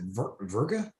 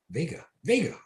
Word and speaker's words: Vega: Vega. Or is it Verga? Vega. That's how you say it.